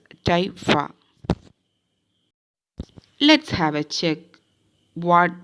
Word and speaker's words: typha: across the word typha the pronunciation is typha let's have a check